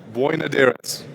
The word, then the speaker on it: Boinodiris: So I'm delighted to welcome to the stage Phaedra Boinodiris.